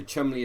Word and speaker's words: Cholmondeley: So Chumley is spelled Cholmondeley, so it's pronounced differently to how it looks like it should be pronounced.